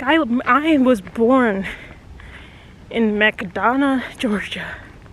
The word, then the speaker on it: McDonough: Like, I was born in McDonough, Georgia. I just say it like that because it sounds like McDonald's. I always thought I lived in McDonald's when I was little, but I was born in Georgia.